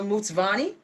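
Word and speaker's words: Mtsvane: that thank you so much i have a mutsvani am i saying it correctly 100 so i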